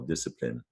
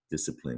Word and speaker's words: discipline: don't hear the either that silent e rule doesn't affect discipline it's not klein there